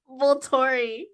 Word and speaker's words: Volturi: How is it pronounced? Volturi.